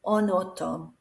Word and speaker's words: en automne: So we slide it together so that vowel pronounces the N. En été, en automne.